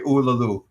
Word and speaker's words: Uluru: I pronounced it. Yeah, perfect. Okay, Uluru.